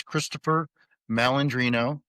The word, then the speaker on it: Christopher Malandrino: The simplistic is, my pronunciation of my name is Christopher Malandrino, and I have my own my own Facebook, excuse me, and it's linked to the website.